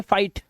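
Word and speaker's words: fight: अब यहां पर देखो एग्जांपल्स आपके सामने, ये देखो आई के बाद जीएसटी, तो जीएच साइलेंट है तो ये पढ़ेंगे फाइट, लाइट, राइट, नाइट, माइट और टाइट।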